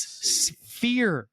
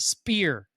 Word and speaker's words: Sphere: And by the way, guys, it's Sphere, not Spear. It's Sphere, like an F. PH is an F, not a P in this situation.